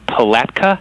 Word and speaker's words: Palatka: in your in your backyard so how's it pronounced is it Palatka yeah yeah PA so are you guys familiar